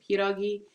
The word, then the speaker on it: pierogi: In segment one, I participated in a pierogi eating contest, also known as pierogi, but pierogi is how it's pronounced in Polish.